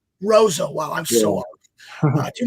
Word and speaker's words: Roseau: I always said it was Rosu. What school did you go to? Roseau.